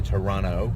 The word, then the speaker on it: Toronto: say in Canada that I pronounce the T the Toronto Toronto Toronto Toronto Toronto at